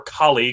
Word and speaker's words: Kale: Yeah, it's like either pronounced Kale or Kali because it's a play off the other half of broccoli, much like Broly.